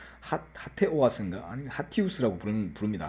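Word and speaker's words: HATEOAS: 발음하기 어렵겠죠. 뭐 헤이트 오아스인가, 하테 오아스인가, 아니 하티우스라고 부릅니다. 하티우스.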